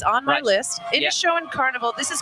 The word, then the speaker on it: Inishowen: And behind us, oh my goodness, we're gonna be talking about, this is the, I'm gonna mispronounce this one as well, Inishowen. No, Inishowen.